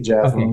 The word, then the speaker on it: Jazrome: Jazz like the music, Rome like the city. Jazrome.